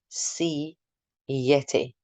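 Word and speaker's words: siete: young learner tell me it's sounds like C Yeti like seeing a Yeti that might help but most importantly the te at the end should be pronounced a nice T sound we then have oo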